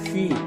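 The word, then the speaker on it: 許: 중국어로 이제 허라고 썼고 발음은 휘 이렇게 읽는데 약 뭐뭐쯤 가량 정도 이런 뜻을 나타냅니다.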